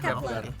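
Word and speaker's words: Kep1er: Kepler, bacanya Kepler.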